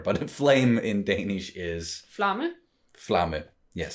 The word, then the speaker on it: Flamme: You just add 1 letter, but flame in Danish is Flamme. Flamme. Yes, so another M, and then you sort of like pronounce the E at the end.